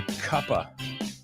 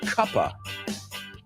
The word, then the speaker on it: cuppa: A cup of, we pronounce a cup-a. Give me a cup of coffee. Give me a cup of tea. Cuppa. It should be cup of, but we don't say that.